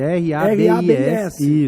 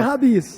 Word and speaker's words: Rabis: R-A-B-I-S. Isso. Tá bom? Sem Y, sem H. E a pronúncia é Rabis. É Rabis, tá?